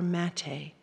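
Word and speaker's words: Maté: His last name is spelled M-A-T-E with a little accent aigu on it.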